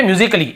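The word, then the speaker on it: musically: फिजिकली ये देखिए फिजिकली तो यहां पर भी ए का उच्चारण नहीं हो रहा है और देखिए लॉजिकली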